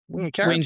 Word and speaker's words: Wingecarribee: This investment is anchored by a $400,000 funding commitment that supports 23 clubs across Campbelltown, Liverpool, Camden, Wollondilly, Wingecarribee. Did I say it pronounced that? Wingecarribee.